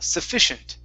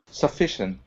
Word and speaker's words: sufficient: instead of sufficient okay the stress is in the middle sufficient sufficient okay good and i